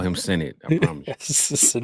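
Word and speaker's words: Sinnott: near there as well I did hear that his his name should be pronounced Senate yeah I I keep hearing senate senate a lot I'm from the Midwest and ignorant as like that spells senat that don't spell Senate I should not call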